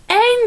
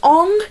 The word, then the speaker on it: Aang: That is not Aang. That is not Aang at all. That is Ong, not Aang, okay?